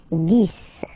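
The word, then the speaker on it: dix: 10, okay, so remember, final X here is pronounced like S, 10, 10, okay, then 11.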